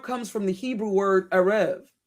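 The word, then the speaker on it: ערב: The word Arab comes from the Hebrew word Arev. Sometimes it's spelled E-R-E-B, A-R-A-V, Arev, the B and V can be interchangeable.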